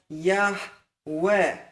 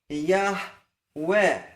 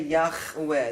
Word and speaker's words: Yahweh: And by the way, don't say Yahweh. That's not a chet. It's just a guttural hey. It's not such a sharp guttural. In fact, in general speech, you'll hardly hear that guttural hey. Yahweh.